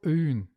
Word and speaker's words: öğün: As for öğün, it doesn't lengthen anything here. It's just silent.